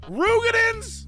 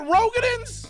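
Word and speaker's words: Roegadyn: Artin AR huh are you telling me they've been called rugans the entire time rugans not rogin I've been calling them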